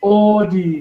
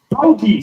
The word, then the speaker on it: Audi: So the first wrong car name, so many people say Audi. When it's actually pronounced Audi, say it with me. Audi, very easy.